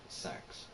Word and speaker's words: CeX: called sex is it actually called pronounced it's pronounced sex since it's I can't hold it means but